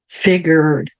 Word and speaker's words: figured: older brother older brother Então veja como os R são sempre bem Enrolados lembrando Independente se eles estiverem no final no meio ou no início de uma palavra sempre vai ser figured brother frases curtas onde o